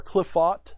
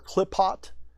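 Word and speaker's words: Qliphoth: Quilfoth? Well, you can say cliff. Think of like the word cliff, like jumping off a cliff, and then foth, or cliffot, or clipot. Any of those.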